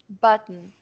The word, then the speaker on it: button: É, ele não coloca vogal entre o T e o N, né? Button.